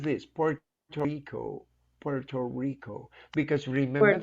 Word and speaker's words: Puerto Rico: I'm planning to go to Puerto Rico next year.